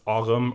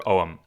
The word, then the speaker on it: Ogham: overview of what is AUM or om uh depending on whether we're going with our old or Modern Irish pronunciation absolutely yeah that is